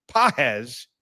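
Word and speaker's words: Pagès: We're going to go with Andy Pahz. Not it's spelled P A G-S.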